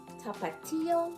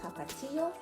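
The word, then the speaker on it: Tapatío: So I think it's tapatio.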